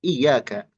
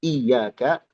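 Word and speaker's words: إِيَّاكَ: Pertama hati-hati tidak bertasydid sehingga kita baca iyaka iyaka. Karena ketika kita membacanya tanpa tasydid maka merubah arti ya iyaka ya itu artinya daus syams dau asyams cahaya matahari maka jauh sekali maknanya ya atau yang perlu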